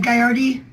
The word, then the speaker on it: Gagliardi: I go by Gagliardi. Thank you. But the G is silent, so it would be like Gaiardi or something, but I was going to change my name.